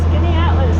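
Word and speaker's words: Skaneateles: Skinny Atlas.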